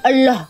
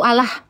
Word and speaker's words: Allah: Ada perubahan suara enggak ketika membaca A L l a H? Ini coba ada. Coba baca dulu aja. Tapi sebagai orang Indonesia. Allah. Allah. Gimana? Allah. O kan bukan A kan. Allah. Anda enggak bacanya A. O.